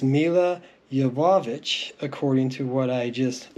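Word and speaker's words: Milla Jovovich: Today we're looking at the Resident Evil DVDs that originally came out, and I've been pronouncing her name incorrectly for years. It's Mila Jovovich, according to what I just looked up online, and I am a fan of hers.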